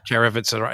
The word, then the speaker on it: Caravanserai: From their how do you pronounce the album? Caravanese album. It's the album with Caravanserai, is it? Yeah. Caravanserai.